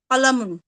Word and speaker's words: কলামুন: কিতাবুন একটি বই, কুরসিউন একটি চেয়ার, না, বাবুন, এভাবে না, কিতাবুনের পর কলামুন হবে। জি, কিতাবুন একটি বই, কালামুন একটি কলম, এখানে কুরসিউন। শুরু থেকে উচ্চারণ বুঝিয়ে দিয়েছিলাম, লামের পরে কিন্তু টান দিচ্ছেন